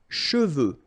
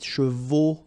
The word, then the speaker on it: cheveux: Final X is not pronounced, so you get che, and then you get the, okay?